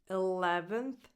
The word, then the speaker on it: eleventh: 11th. In this one, the stress is on the second syllable, le. The first vowel is like a lax I, le.